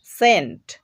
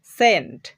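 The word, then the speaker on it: cent: সেন্ট, সেন্ট। দেখো এখানে আমরা সি এর পরে ই বর্ণটা দেখতে পাচ্ছি, এই জন্য এখানে সি এর উচ্চারণ করতে হবে দন্ত স।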